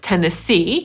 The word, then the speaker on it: Tennessee: A pierwszym stanem na literę T jest Tennessee /tenəˈsiː/ i akcentujemy tę trzecią sylabę, tak jakby tam było „widzieć” – /tenəˈsiː/.